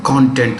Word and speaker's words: content: And this is broadcasting content. How do we say it? Content, not content. Content is satisfaction. Same word, different pronunciation, different meaning.